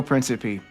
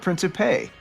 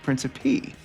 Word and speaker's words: Principe: Everybody, Joe Principe, not Principe. You're saying it wrong. Principe.